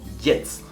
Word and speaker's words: jetzt: La J es una letra que se pronuncia como una E en español. Como por ejemplo, jetzt, ahora. O Junge, el joven. O ja, el año. Das Jahr, el año.